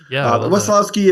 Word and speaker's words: Wesolowski: different nicknames so yeah wasowski is is Polish and I think I told Ethan earlier is that whenever I'm in Eastern Europe they tell me I say my own name wrong so um it's uh I think it's like a hard W like a V sound but um yeah I just wowski is fine great so so speaking